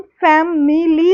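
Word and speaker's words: family: हम फेमिली लिखते हैं। है ना? फै मी ली लेकिन बोलते हम क्या है? फैमिली फैमिली आई की जो साउंड है उसको हम नहीं प्रोनाउंस करते।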